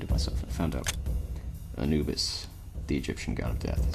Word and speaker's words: Anubis: by the name Anubis which for the longest time I always pronounced as anibus like I transpose the I and the U transpose good word but